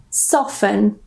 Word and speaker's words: soften: So the T completely silent again. For example, soften.